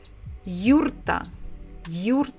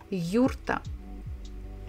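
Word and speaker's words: юрта: name of their houses it's called yurta in English we say yurt yurt but Russian almost the same yurta can if you followed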